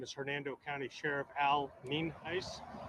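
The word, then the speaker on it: Nienhuis: Hernando County Sheriff Al mean ice spelled n-i-e-n-h-u-i-s and it's pronounced Neen Heist uh we're here out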